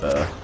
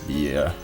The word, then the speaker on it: bear: while deal with the bear. Bear. Wasn't that long ago when I pronounced bear as beer, which is a beverage.